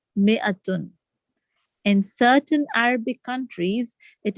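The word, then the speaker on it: مائة: Note that in mi'atun, the alif is not pronounced. It is pronounced mi'atun.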